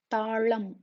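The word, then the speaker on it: తాళం: Talam. T-A-A-L-A-M. Talam, which is a lock. I'm repeating once again. La is pronounced by touching the tongue to the roof of the mouth.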